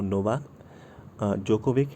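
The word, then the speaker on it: Novak Djokovic: तो 2021 का Wimbledon men's singles का खिताब किसने जीता, तो नोवाक जोकोविक है। तो इस नाम को जो है आप लोग याद रखें, इसमें डी साइलेंट रहता है।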